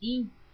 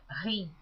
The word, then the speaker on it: hin: Baldini, que esta palavra hin está escrita H-I-M. Algumas pessoas pronunciam rim. Eu pronuncio como está escrito hin, porque a Bíblia que eu estou lendo é em português, toda leitura em português.